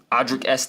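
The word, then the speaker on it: Audric Estimé: I don't know can't trust the rookie uh audri ese is how you pronounce his name Javonte Williams had a big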